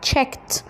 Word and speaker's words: checked: الماضي بتاعها checked، الايدي هنطقها تي checked.